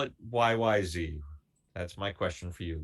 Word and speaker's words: YYZ: So, first of all, and I keep saying YYZ because I'm an American, but they pronounce it YYZ.